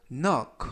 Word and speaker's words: knock: knock 이때 꼬리에를 빼고 nock 하면 노크하다 두드리다라는 동사가 되겠습니다 이때 맨 앞에 있는는 무음이라 발음이 되지 않고요 noted 노크했다 문을 이때